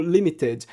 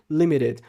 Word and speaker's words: limited: T, de pronunciar como limited, que seria talvez uma pronúncia mais próxima do inglês britânico. Ela diz aqui limited, que é com muita naturalidade, como eu disse.